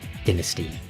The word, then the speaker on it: dynasty: And you don't need to leave a comment complaining about the way I pronounce Dynasty, because that's how it's pronounced in British English, is Dynasty, and in American English as Dynasty.